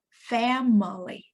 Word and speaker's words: family: Family, 3 syllables. And the stress is on the first syllable.